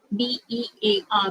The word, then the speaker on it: bare: So random has the same pronunciation but different spelling and different meaning. BEAR, bear, BARE, bear. Okay.